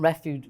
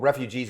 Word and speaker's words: refuge: Shelters and refuge. I can never say it right. Refuge. Refuges. Well, refugees is different than. No, refuge. I know. That's why I always say it wrong.